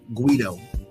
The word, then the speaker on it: Quedo: name right okay um it's actually pronounced like uh Guido Guido Guido okay okay